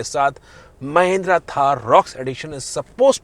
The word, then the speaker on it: Thar Roxx: अब महिंद्रा लेके आ रहा है थार का 5 डोर वर्जन जिसे प्रोनाउंस करेगा थार रॉक्स।